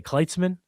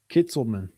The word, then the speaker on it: Kitselman: But I just wanted to bring that up because you brought up, how do you say, Kitzman? Katzman. Kitselman. Kitselman.